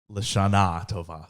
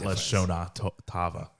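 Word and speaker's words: L'Shana Tova: Lashona Tova. Lashana Tova. Not Lashona Tava.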